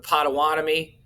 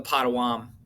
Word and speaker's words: Pottawatomie: massacre or the pot you could pronounce it multiple ways but you could say the pottawatomie or or the pottawam massacre and what happened here